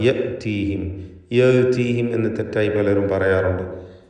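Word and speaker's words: يأتيهم: ഹംസയെ കടുപ്പിച്ച് പറയണം. യഅ്തീഹിം. യഅ്തീഹിം എന്ന് തെറ്റായി പലരും പറയാറുണ്ട്. അത് സൂക്ഷിക്കേണ്ടതാണ്. മാ യഅ്തീഹിം.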